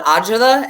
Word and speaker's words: agita: Like, I'm seriously, when I hear his voice, like, I get, in Italian, we call it agita.